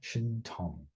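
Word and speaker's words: 신통: have it yeah in in Mandarin I think this is pronounced something like shin Tong but now I forgot to this is not a character that we've covered um but I want to just make sure I get the pronunciation right in uh Sino Korean oh yeah it is Tong yeah Shin Tong in Sino Korean um this is a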